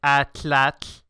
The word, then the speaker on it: atlatl: and I create an atlatl at what an atlatl and out of well a spear thrower Oh like the ancient Aztecs used to throw okay yeah it's actually pronounced more like at latch so if you want